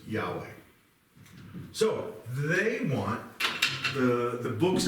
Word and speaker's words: Yahweh: The Hebrews would pronounce it Yahweh, but it looks like like that. Best we can figure out what that should sound like is Yahweh.